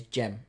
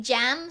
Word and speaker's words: Cem: he's obviously gem adrian now we know he's gem right but there's a bit of discussion in there some people say jam some people say gem with a g now m i what